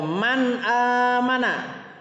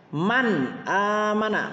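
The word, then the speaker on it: من آمن: di video sebelumnya ada Man aamana mim Nun sub mirfad Hah nun sukun HAM ada Alif untuk mempermudahkan Alif maka bunyi n pada nun sukun harus dia jelas man aamana man Hai ini juga Hai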